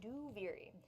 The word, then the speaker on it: Duviri: We've been typing it only because we're still working remotely, so saying Duviri out loud is that's how you pronounce it, by the way. Duviri.